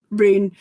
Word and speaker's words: Rune: So where did you get the idea of Poppy Min and do you pronounce it run? Rune. I mean I think in Norway watch this I'll get absolutely hammered. But um it's like run.